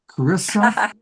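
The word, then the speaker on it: Charissa: Cararissa Sims, spelled the H is silent.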